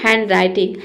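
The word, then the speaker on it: handwriting: ड नहीं होगा केवल यहां पे डी लेटर साइलेंट है इसलिए यहां पे ड नहीं आएगा। हम इसे पढ़ेंगे हैंडराइटिंग। हैंडराइटिंग नहीं होता है हैंडराइटिंग।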